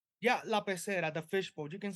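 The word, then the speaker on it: La Pecera: Is La Pacera how you pronounce it? Yeah, La Pacera, the fishbowl.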